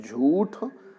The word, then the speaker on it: झूठ: झूठ मत बोलो तो शुद्ध है झूठ यहां पर भी कुछ बच्चे छोटे उ की मात्रा कर देते हैं जो कि गलत है बिल्कुल सही यदि झूठ